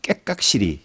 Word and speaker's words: 깨깍시리: 깨깍시리 이번에 이영이 아니고 기억입니다만 네. 받침이 깨깍시리라는 것이 있는데 이 말은 창원을 비롯하여 그 사천 등 일부 바닷가 지역에서 잘 쓰입니다.